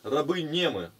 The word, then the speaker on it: Рабы не мы: Сегодня толкуют, что ударение на первом слоге «рабы не мы».